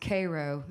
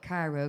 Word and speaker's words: Cairo: Co is this little town called it's actually pronounced Cairo Illinois but for songs sake and for singing wise I call it Cairo because that's how it's spelled and anyways it's